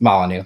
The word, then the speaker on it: Molyneux: It's Molyneux, but I had to spell it the way it was spelled, or say it the way it was spelled.